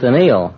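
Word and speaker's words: anneal: thought it was a television too no it's Anil a n n e a l you don't have to spell it all the kids are in bed by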